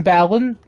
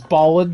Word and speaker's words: Balan: of just like wait so is the impresario's name ballon yes okay i'm gonna continue mispronouncing it as ballin because something called ball